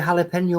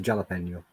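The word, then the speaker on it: jalapeño: mean it's it's mexican it's pronounced with the same sort of j as every other spanish word which is more like a h than an actual j it is but i'm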